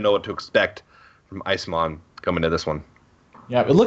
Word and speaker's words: Isamon: All right, so we got confirmation on how to pronounce what we were referring to as Isamon's name. It's Isamon. Very close from you. That's a good guess. Gosh, you're good. You're smart. It wasn't even close. Isamon and Isamon? Those are completely different. That's like 1 syllable. You get 2 of the syllables right out of 3. 2 out of 3 ain't bad.